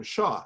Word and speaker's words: Hsiao: So I once introduced somebody whose last name was Shsiao, and he said, oh, we have the same last name, Shaw.